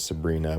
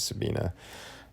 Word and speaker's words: Sabina: is Sabina speck Tarla there's someone pronounced her name is Sabrina but I left the are out on purpose her name is Sabina you kind of see